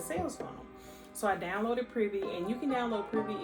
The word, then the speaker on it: Privy: all about shopify and i think that's how you say it's pretty p-r-i-v-y um so yeah i